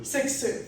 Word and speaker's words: Cixous: All right, one more time, how do I pronounce it? Cixous? Cixous.